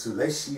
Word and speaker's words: Sulecki: taking on my co su Leckie I don't think maybe last night they were saying even what's his name Jim Lampley made a point to say his name was Sol a she or something and he said I